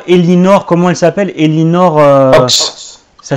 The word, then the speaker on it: Ochs: Elinor Ochs. Ça s'écrit O-C-H-S.